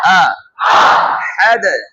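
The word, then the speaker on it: أحد: প্রথমটা উচ্চারণ আ, গলার প্রথম স্তর থেকে, তারপরে হা উচ্চারণ করব, এটা হবে গলার মধ্য স্তর থেকে। হ্যাঁ, এই যে আহাদ আহাদ, আবার আবার হা তুলে হাদ, বাতাস বের করে আমরা পড়েছি হা উচ্চারণে, আহাদ আহাদ।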